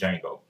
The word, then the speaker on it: Django: And remember, the D is silent, so not D Django, it's Django.